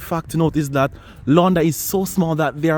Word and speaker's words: Landas: Yes, today we are in the city of Landas, a French, I think that's actually pronounced Londa, a French commune in the Nord department of the Hauts-de-France region.